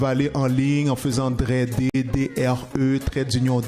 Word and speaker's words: Drê-D: Ça s'écrit Dre, D-R-E, accent circonflexe, -D, yes. Dreadé.